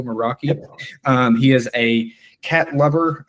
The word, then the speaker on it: Meraki: He's a security engineer at Cisco Meraki, I believe is how you say that, Cisco Meraki.